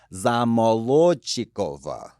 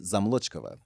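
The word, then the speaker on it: Zamolodchikova: Like when you pronounce things, when you say them slowly, you say them correctly. You don't schwa out the vowel. So zamolochikova, but becomes zamolochkova.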